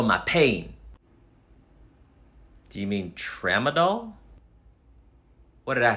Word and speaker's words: Tramadol: anxiety Cymbalta great anything else I take some dull trauma for my pain do you mean Tramadol what did I say okay sir and are